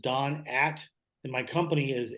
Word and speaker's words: Dohn: at Best Buy email my name is spelled d-o-h-n so just Don at and my company